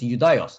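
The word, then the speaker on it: Ἰουδαῖος: The pronunciation is Judaios.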